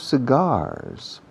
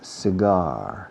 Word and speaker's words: cigar: This is a box of cigars. Cigarros puros, decimos cigar, cigar, no cigar, cigar.